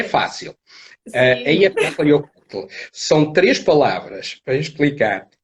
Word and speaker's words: Eyjafjallajökull: sei, não sei pronunciar. É muito Ok. K, muito J, muito... Ok, é Eyjafjallajökull. É fácil. Sim. Eyjafjallajökull.